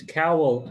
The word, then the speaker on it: cowl: how you say it it's cowl as in towel okay cowell all right